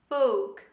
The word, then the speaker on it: folk: we don't say folk or faults the correct pronunciation is folk folk say with me folk the next word cough don't say calf this